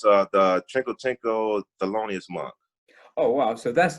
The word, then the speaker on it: Thelonious Monk: Wow, can you say his name? Thelonious Monk? Thelonious Monk. Right? Yeah, good.